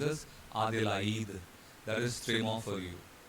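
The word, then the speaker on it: Adélaïde: It is a city in Australia, Adelaide, but in French they would pronounce it as Adelaide. Adelaide. A is separate, it is pronounced as A, and I is pronounced as E.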